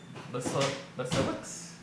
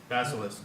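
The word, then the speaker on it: Besalisk: Basilix? Is the 4-armed guy, you know, Rex from the. Basilisk. Basilisk, yeah. One of those guys.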